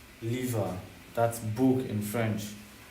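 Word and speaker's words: livre: Lever.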